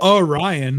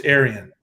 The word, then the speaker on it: Arion: Is it Arion or is it Orion? It's not Orion. No, it's Arian. It's Arion. I would say Aryan.